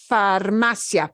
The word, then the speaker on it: farmacia: the Assam Panaderia but farmacia farmacia obeys the rule no accent mark needed can you hear the difference they both have an e uh ending but this yeah all hands together farmacia all runs together very quickly yeah but here the